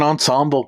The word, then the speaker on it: ensemble: An ensemble cast. I said ensemble without stuttering. That's pretty good. You said it correctly, too. Yeah. With the correct amount of syllables.